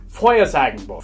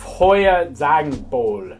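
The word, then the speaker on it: Feuerzangenbowle: school with a classic german mulled wine recipe foia sagan both hoya zangbol foyer zagon bowl fire zagging bowl sagging bowl literally meaning fire tongs punch let's get going so so foy sagan boiler if i'm pronouncing that correctly is uh a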